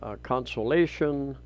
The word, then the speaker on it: Consolacion: And going north, you've got Liloan, Consolacion. I've been corrected a number of times on that pronunciation. It's more of a Spanish pronunciation.